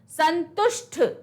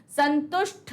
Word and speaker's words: संतुष्ट: निष्ठा, निष्ठा, शिष्टि, शिष्टि, घनिष्ठ, घनिष्ठ, संतुष्ट, संतुष्ट होता है, टा और ठा प्रोनाउंस करने में, संतुष्ट नहीं होगा, संतुष्ट होगा। फिर है कनिष्ठ, कनिष्ठ नहीं होता, क्या होता है?